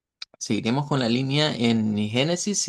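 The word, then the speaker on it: Gênesis: Bueno, en primer lugar, ya lo decíamos la semana pasada, el libro lo debemos pronunciar como eh Génesis. Génesis con ese sonido de esa G vibrante como la G del inglés.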